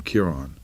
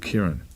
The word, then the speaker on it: Kieran: You were pronounced Kiran. Everybody from Dublin said they call him Kiran, right? Cuz it was an accent, but I'm from the north. They don't bother with accents up there. So, I've always been called Kieran. So, that's how I would say my name.